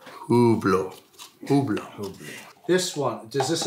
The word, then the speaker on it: Hublot: Is Hublot the official Swiss pronunciation? Hublot. Hublot. Hublot. So I'll just pull them all out so you can have a look. How do you say it properly then, Harry? I would go with Hublot.